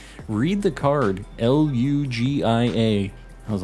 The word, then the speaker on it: Lugia: I would know that it wasn't luigia I'd know that it was Lugia it's okay I can